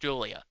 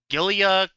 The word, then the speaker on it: Giulia: saw somebody actually say it's pronounced Julia I'm like oh okay it's a weird spelling for sure yeah yeah um cuz I was like gilia Gia um but yeah